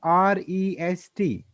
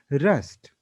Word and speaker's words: rest: one more word was there, that is REST. How we pronounce this word? Rest. It is rest. But while doing this conversation, you were saying it as rust.